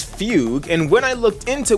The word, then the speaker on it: Fugue: is a Chinese word gu e is not gu then e could be which would make it Fugu but they also space out the Chinese names like in Jing Yan and fuan so it wouldn't be put this way in one word so her name is fugue and when I looked